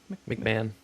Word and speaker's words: McMahon: It's spelled M-C-M-A-H-O-N-N. McMahon. Is it McMahon? It's McMahon. Okay. McMahon, everybody. I've been saying that wrong.